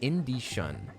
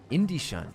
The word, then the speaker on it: Indie-shun: By the way, it's pronounced Indie-shun. Indie-shun. Ooh, as in the Japanese name Shun.